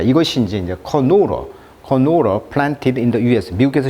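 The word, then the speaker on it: canola: 그다음에 우리가 이제 카놀라라고 하는데 영어식 발음은 이제 이음절에 있습니다. 커노우러, 카놀라, 유채꽃 씨앗 기름이라고 하죠.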